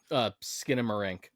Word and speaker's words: Skinamarink: now, we're getting like shrink how do you pronounce that horror movie, Deshaun? Oh, Skinamarink.